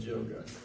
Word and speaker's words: yoga: If you take the word yoga and in correct pronunciation, Y, when it begins a word, actually is pronounced as a J, so it's actually called yoga.